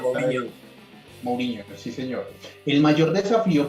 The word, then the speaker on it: Mourinho: Mason ya había dirigido 7 partidos en el 2021, luego de la salida de José Mourinho, creo que la pronunciación correcta. Mourinho, sí señor.